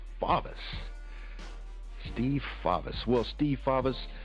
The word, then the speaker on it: Favis: right is it favis or favis it's actually pronounced favis favis Steve favis Well Steve faas again welcome to